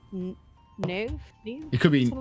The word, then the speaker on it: Niamh: I believe it's pronounced Niv. It could be Something like that. Niv, But Niv, it's like or Niv. Niamh. Yeah, how it's right. spelled. Right, that's Niv. So I was like, "Are you just mispronounced Neve?"